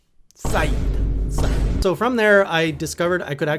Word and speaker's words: SAED: And some of you say it's said, but like, I'm gonna slam you with a said. It's no, Saeed.